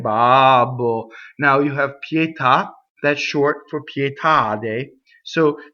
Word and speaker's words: pietà: So when you say pietà, pietà, see, you have a double P on the next pietà, pietà, pietà. So that's a two-syllable word that causes a phrasal doubling.